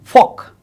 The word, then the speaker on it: folk: In India's West Bengal, some eminent folk singers, folk, you see the pronunciation folk, that is silent of L, folk singers made Hason's songs popular.